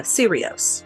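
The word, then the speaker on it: Serios: think of is the case of Ted uh sirios that's how you pronounce it now serious started out as an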